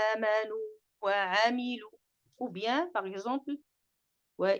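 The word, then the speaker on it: آمنوا وعملوا: temps suffisant pour donc ne pas fusionner le waw dans le waw. On ne dit pas amanu, c'est clair? C'est illa alladhina amanu wa amilu.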